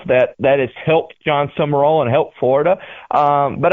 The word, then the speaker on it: Sumrall: How do you pronounce his last name? Is it Summerall or Summerall? I'm confused. Summerall.